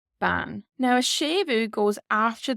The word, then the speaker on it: bean: So for example, we have the word woman here, which is ban. Does look like bean in English, but this is the word for woman in Irish. Ban.